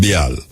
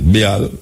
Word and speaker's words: Baal: a god, and them call the god Baal. A B-A-L. That's how you pronounce it. Big scholars behind me. Tell me if that's how you pronounce it. Baal, B-A-A-L.